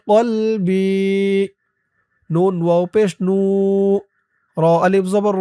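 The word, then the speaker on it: نور: বাইয়াজেরি ওয়াফি বাসরি ওয়াফি বাসরি নুন ওয়াও পেশ নর আলিফ জবর র নূ ওয়াফি বাসরি নূর ওয়াফি বাসরি নূ আল্লাহুম্মাজলফি কলবিন ওয়াফিলিসানি ওয়াফি সামন ওফিবাসন দোয়াটি এই পর্যন্তই।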